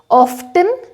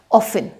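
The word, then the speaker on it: often: ऐसे बोलना है तो यहाँ पे इसको ऑफ्टन नहीं बोला जाएगा, टी सॉफ्ट रहता है इसीलिए ये बन जाएगा आपका ऑफन, आई ऑफन विजिट, ठीक है।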